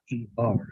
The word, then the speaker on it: Coker: Kocher. Am I pronouncing that correct?